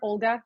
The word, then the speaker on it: Volha: as a speaker today my name is Volga as you can see um or Olga if you are not fluent in Ukrainian or Belarusian and cannot pronounce it both is working for me and today I'll